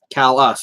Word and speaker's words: Calais: Calais. Okay. All right. That's the same way we have a Calais here in Vermont, and that's the same way we pronounce it.